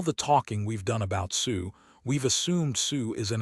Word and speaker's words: Xu: and it turns out there are names in Chinese that are pronounced Sue or close to it. The closest one is a family name written in English as xu or su either way.